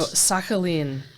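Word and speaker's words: Sakhalin: and you're going to tell me how to pronounce the the name of the island oh sakin Island which was a penal colony which zarus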